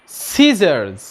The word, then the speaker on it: scissors: أول حالة لما يجي قبله حرف الاس. لما يجي قبله حرف الاس حرف السي لا ينطق، زي كلمة scissors وزي كلمة muscles.